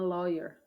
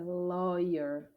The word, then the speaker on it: lawyer: No, I'm a lawyer. A pronúncia dessa é lawyer. Ela é um pouco mais chata porque não se parece nada com a escrita.